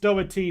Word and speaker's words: Doherty: with an l by the way lads it's pronounced doherty for the further for the future videos classic